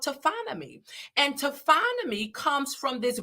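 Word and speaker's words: taphonomy: I kept hitting that voice how do I pronounce this word to finally so so so the science that studies decomposition is called tophonomy and tophonomy comes from this Greek word tapos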